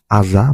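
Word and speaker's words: 字: এটার অনেক অনের উচ্চারণ হচ্ছে জি, কুনের উচ্চারণ হচ্ছে আজা বা আজানা।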